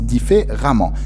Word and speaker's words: différemment: Donc, cet adverbe-là se termine par E, deuxième ENT, qu'on prononce différemment, élégamment.